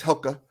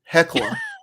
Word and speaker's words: Hekla: It was in, uh, Hella, Iceland, which is spelled Hella. Iceland, but it's Hella. Or, I'm sorry, not Hella, Hella, jeez. Icelanders are looking at me and like face palm me. Hekla. It's Hekla, Iceland, jeez.